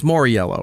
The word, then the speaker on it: Mauriello: Back here with Justin, it's Mauriello, right? Excellent pronunciation.